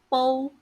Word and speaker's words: 煲: The Chinese word 煲, which is pronounced as bo in Cantonese, means to cook something, such as porridge, for a long time.